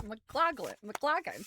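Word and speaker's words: Maclagan: His last name is spelled M A C L A G-N. I want to say it's Mccclaclin, but I don't think that is it. It's McLaclin.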